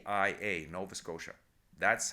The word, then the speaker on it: Nova Scotia: Nova Scotia s c o t i a Nova Scotia that's how it's said in English to him it was always Nova scota to him he felt it should be Nova